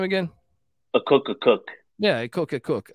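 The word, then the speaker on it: Akok Akok: Southeast Missouri State um but they bring in hey cook hey cook how do I pronounce this guy's name again a cook a cook yeah I cook a cook uh it's a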